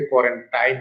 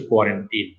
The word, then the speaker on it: কোয়ারেন্টিন: অনেকে এটাকে কোয়ারেন্টাইন বলে, আসলে শব্দটার সঠিক উচ্চারণ হচ্ছে কোয়ারেন্টিন।